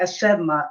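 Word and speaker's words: asemaa: Oh, I thought Sema. I thought it was Sema, like SEMA for tobacco. It's Sema. I guess it's how you pronounce it. It's where you are. It's phonetic. Yeah, in Ojibwe they say Asema, ASSEMA.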